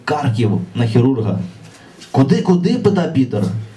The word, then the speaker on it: Харків: Потім він трясеться бусом у Харків, дивуючись, що пастор вчив його вимовляти Карків, а місто насправді називається Харків.